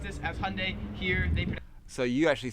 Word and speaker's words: Hyundai: wrong pronounce it as hyundai americans make it like two syllables like hyundai australians three syllables hyundai now 40 and 41